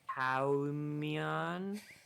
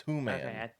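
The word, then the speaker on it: hwan: race known as a howon am I pronouncing that right so close it's whan oh humman uh so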